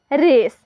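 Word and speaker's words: race: आप कंफ्यूज मत होएगा तो देखिए आर ए सी सी के लिए स और ई यहां पर देखिए साइलेंट रहेगा देखिए बन गया आर ए सी ई रेस रेस का मतलब होता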